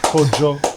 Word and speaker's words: Kojo: It's actually Kojo.